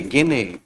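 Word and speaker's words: Gagné: और ये देने वाले हैं रॉबर्ट एम गेने, रॉबर्ट एम गेने, रॉबर्ट एम गेने, गेने। कई बार इनको हम गेगने भी पढ़ते हैं, एक्चुअली इनका नाम है GAZNE, गेगने। रॉबर्ट एम गेने, रॉबर्ट एम गेने।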